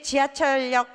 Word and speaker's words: 지하철역: 그런데 요건 좀 쉬워요 그런데 지하철 여기에요 지하철역인데 지하철 인력 리을로 발음하라고 해요 왜냐하면 니은 참가가 먼저 일어나요 이렇게 그다음 유마가 또 일어나는